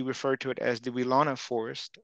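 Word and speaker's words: Weelaunee: to it as the wilana forest weilani is kind of how they say it in the area and we did some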